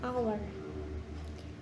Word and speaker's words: hour: Example, an apple, an elephant, and an hour. Nah, di sini juga ada hour yang menggunakan an, padahal penulisannya diawali huruf H. Karena hour ini adalah silent H atau huruf H yang tidak dibaca, maka pengucapannya tanpa diawali huruf H.